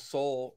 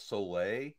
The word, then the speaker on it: Soule: i thought it was i thought it was charles soleil because he spells his name s-o-u-l-e and he's and he laughed he's like ah no it's it's soul it's sweel um so